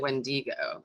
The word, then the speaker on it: Wendigo: when do you go oh it's w e that's why i pronounced it when diigo but i've heard it went ago as well oh look at this